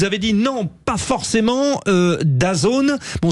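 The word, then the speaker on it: DAZN: dit non pas forcément d'azone bon c'est comme ça qu'on prononce he d a Zn j'ai demandé aux principaux intéressés ils nous disent comme ça on prononce daone bon vous vous dites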